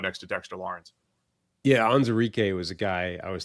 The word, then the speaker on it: Onwuzurike: Levi Onwuzurike, got the pronunciation right there for Levi.